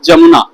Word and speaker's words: जमुना: नाम हो जाता है जमुना। कंफ्यूज नहीं होइएगा, ये इंडिया वाला यमुना नहीं है, ये जमुना है, जे से जमुना। इंडिया में जो है वो यमुना है, य से यमुना, ये जे से जमुना।